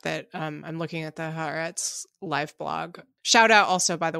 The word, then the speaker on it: Haaretz: The Haaretz live blog says that Netanyahu is set to give an address to the Israeli public on Wednesday evening, so shortly.